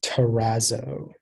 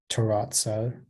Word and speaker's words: terrazzo: uh your word is terrazzo um can I have all the information the word can be pronounced Terrazzo Terrazzo Terrazzo Terrazzo or terrazza it's a noun and it's